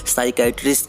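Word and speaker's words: psychiatrist: तो दोस्तों दिमाग वाले डॉक्टर को जैसे आप नीचे फोटो में देख रहे हैं, साइकेट्रिस्ट कहते हैं। इसमें पी साइलेंट है।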